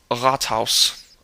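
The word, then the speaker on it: Rathaus: best for you is if you first open your throat just leave it open and then kind of back your tongue up to tighten the throat a little bit and push air through and going for that utive so-called sound and it it should work for you I think it's it's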